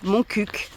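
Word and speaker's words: Montcuq: dans la région d'Occitanie c'est de l'occcitan et ça se prononce moncuc je le sais parce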